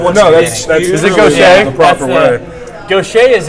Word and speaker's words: Gautier: wants No, to that's be is it really Gaucher?